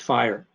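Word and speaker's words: FHIR: fast healthcare interoperability resources standard initials f-h-i-r-r and pronounced fire recently compliance with the fire standard is a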